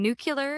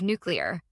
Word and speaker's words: nuclear: He kept saying nuclear instead of nuclear.